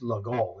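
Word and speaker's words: Légal: people talk about the legal mate it's not legal mate it's Lal it's French and the g mate goes like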